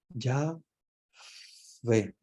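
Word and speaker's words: Yahweh: es como la respiración Ellos dicen Ya ve es como pero como ellos no pueden pronunciarlo Ellos dicen es como la respiración porque las consonantes de ellos es como si estuviéramos respirando o sea es como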